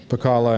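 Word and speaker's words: Pacala: Uh Pala and Sakalo, that's pronounced right.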